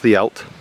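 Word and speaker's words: Dduallt: they crossed at Ddaullt, spelt Ddaullt but pronounced Ddaullt.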